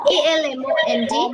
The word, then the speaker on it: almond: A L M O N D. Almond. Almond. Almond. Almond. L is L is silent.